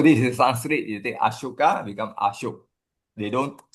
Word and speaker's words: Ashoka: So Sanskrit, Ashoka, they will pronounce as Ashok. Aegon, Ashok, Ashoka, Ashok. So this is Sanskrit. You take Ashoka, become Ashok.